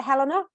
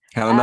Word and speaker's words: Helena: um my pleasure my you know myself I pronounce it Helena Helena um and surname is which is just